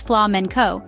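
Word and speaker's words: flamenco: dance form was born flamco pronounced as FLA menco with its intense footwork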